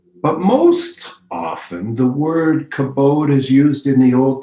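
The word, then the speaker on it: כבוד: The Hebrew word for honor here is kabod, or as it is sometimes pronounced, kabod.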